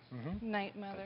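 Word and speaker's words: 'night, Mother: is about the show called how do you pronounce it night mother night mother exactly and it deals with suicide yes tragedy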